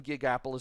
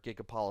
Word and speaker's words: Gigapolis: we will be tackling gigapolis zone or gig apollo stone depending on how you want to pronounce it in the next